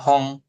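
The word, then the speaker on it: 本: Hon. Bacanya hong.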